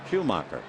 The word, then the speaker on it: Schumacher: So the first time we saw Skip, instead of his name sounding and looking like Schumacher, it looks like Shoemaker, Maker, but he pronounces it Schumacher.